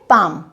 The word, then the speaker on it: palm: पाम जो हथेली होती है उसको बोलते हैं इंग्लिश में पाम। PALM लिखा जाएगा लेकिन बोला जाएगा पाम।